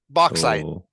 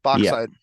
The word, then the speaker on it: bauxite: got zinc and I don't know how you pronounce this one bauxite bauxite yes box side it's for it's for creating aluminum aluminum for